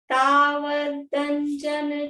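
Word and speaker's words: तावदञ्जन: तावदंजन चौरांगे, शब्द है इसमें तावत अंजन चौरांगे, तो अंजन का अ साइलेंट है और तावत का त और अंजन का साइलेंट नहीं है, अंजन का जो ए है वो मिलके द बन गया है।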